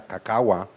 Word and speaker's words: cacao: La palabra cacao, originalmente pronunciada cacahua, parece estar relacionada con el idioma Mixe-Zoque y se refiere básicamente al nombre de la planta.